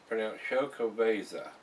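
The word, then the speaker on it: Xocoveza: This is a Exo Caviza Mocha Stout, pronounced Chocoveza.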